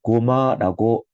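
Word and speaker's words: GoMA: 이번 주말에 in Glasgow, 스코틀랜드에서 hosted by, 자, 누가 주관하고 있냐면 The Gallery of Modern Art, 고마라고 읽혀지죠.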